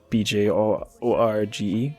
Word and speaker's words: Bjorge: Bjorge, B-J-O-R-G-E.